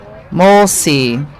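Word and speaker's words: Molesey: Molesley is how you pronounce that.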